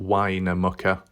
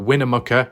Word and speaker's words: Winnemucca: pronunciation winner mukkah and I called it winemaker or winemaker because I think of wine wingy wine maybe that's where they come from so we've got Winnemucca and you've got towila tawilla